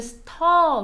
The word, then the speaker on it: stir: 스타의 stir nds 티어 이렇게 반응하지 말고 발음은 스터 로 발음 해줘요 스터 뜻이 뭐야 쉬